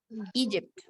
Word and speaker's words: Egypt: Egypt. Se pronuncia con una I.